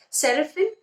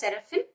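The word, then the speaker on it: Serafín: The Serafin is pronounced as Serafin.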